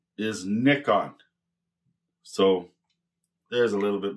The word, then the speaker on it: Nikon: I think in America and Canada we call this Nikon, but the actual pronunciation is Nikon.